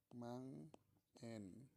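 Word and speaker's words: 万円: Atau cara bacanya itu mang-en. Mang-en.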